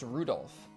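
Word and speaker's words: Rudolf: That mess of characters is pronounced Rudolph.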